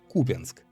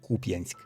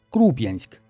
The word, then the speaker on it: Купянск: Словарь имён собственных даёт однозначную трактовку ударению в названии города, на русском языке Купенск. Для украинского языка также нормативным является ударение на первом слуге Купьянск.